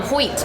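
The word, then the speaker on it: Howth: here now one of your favorite spots um hoyt which is how you say it by the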